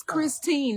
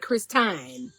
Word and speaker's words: Christine: You need to learn the difference in a long I and a short. It's Christine, not Christine. Okay.